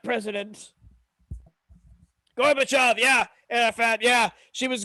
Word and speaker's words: Gorbachev: out why you have russian names that end with ev but they're pronounced like off like gorbachev or khrushchev yeah i never could